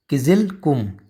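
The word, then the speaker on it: Kyzylkum: यह है किज कुम क्या इसको प्रोनाउंस करेंगे ठीक है जी कजाकिस्तान में ही है किज कुम याद याद रखो किजल कुम किजल कुम ठीक है नाम भी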